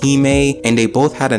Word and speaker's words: hime: both ended in the letters h-i-m-e which is pronounced he may and they both had